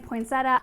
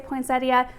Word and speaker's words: poinsettia: from the Midwest say poinsettia there is an i in the word but I think over time that I has kind of been dropped the dictionary actually lists